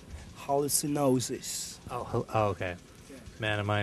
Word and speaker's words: Hallucinosis: How do you pronounce it? Hallucinosis.